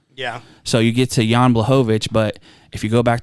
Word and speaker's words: Blachowicz: so you get to Jan blahovich but if you go back to our early episodes before I even gave him the respect of saying his name right you probably call him John blachowich Sean say say Glover's